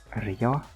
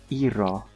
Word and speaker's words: Iro: There is Quill, there is Ella, there is Bonibel, and there is Rio? Iro. I keep getting that name wrong.